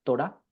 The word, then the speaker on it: Torah: Esta es la palabra hebrea, literalmente se pronuncia así, Torah, y es lo que nosotros conocemos como la ley o el Pentateuco.